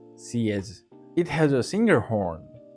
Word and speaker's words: xiezhi: In Chinese characters, it's written haze, pronounced cs.